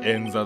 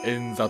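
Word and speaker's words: 円座: 座布団ではない、円座だ。円座と読む。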